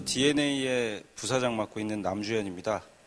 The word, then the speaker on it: DeNA: 처음에 말씀드린 DNA인데 저희 우리 회사 이름을 대나라고 읽는 분이 많으세요. DNA라고 읽고요. 그 D 우리 DNA에 이커머스가 심어져 있다 해가지고 스펠링을 저렇게 씁니다. 그래서 DNA로 꼭 읽어주십시오.